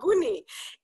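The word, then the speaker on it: Buunni: it in the chat because it's b-u-u-n-n-i to use two ends um mainly because we thought maybe with the american pronunciation we didn't want people to call us bunny coffee right well wait but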